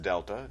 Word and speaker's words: delta: over change in X that triangle which is pronounced Delta just a a Greek letter that means change